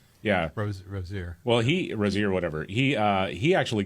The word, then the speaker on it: Rozier: Yeah, Rozier.